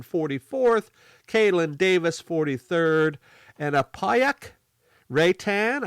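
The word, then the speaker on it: Apayauq Reitan: caitlyn davis 43rd and apayak ray tan i believe is how you say the name in 42nd and then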